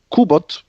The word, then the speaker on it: Cubot: They're called Cubot. It's spelled as a Cubeot.